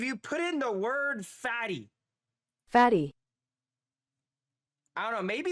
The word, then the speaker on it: Fatih: Let's actually see how you pronounce this. Fatty.